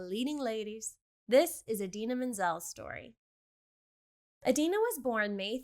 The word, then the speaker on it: Menzel: Interesting fact, Adena actually changed her last name from Menzel with a t n tz l to menzel not ti which she found better reflected the pronunciation her family adopted in the US.